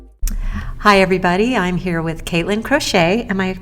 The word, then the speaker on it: Katelyn Crochet: I'm here with Katelyn Crochet. Am I pronouncing that right?